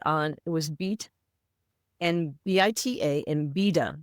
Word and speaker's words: Bita: So I decided to go with bita for two reasons unique and it rhymes with my name because my dad used to call me Anita Nita.